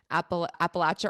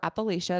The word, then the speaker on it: Appalachia: two, this book was set in Appal Appalachia or Appalachia, depending on how you pronounce it. Both of them are correct.